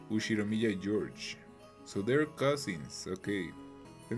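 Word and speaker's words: Ushiromiya George: His name is pronounced Ushiro Mia George.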